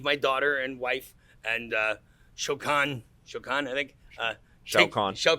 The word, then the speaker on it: Shao Kahn: Shao Kahn. Shao Kahn.